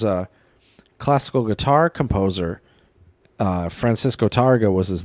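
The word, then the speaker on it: Tárrega: Tarrega? Tarrega. Oh, Tarrega, okay. And Tarrega, if you want to be fancy with it. Didn't want to make you feel bad, Joe, since you can't roll your R's.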